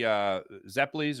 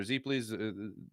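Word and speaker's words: zeppole: My dad likes making the anchovy Zeppelis or Zepplis, however you like to pronounce it, depending on what region, but whatever.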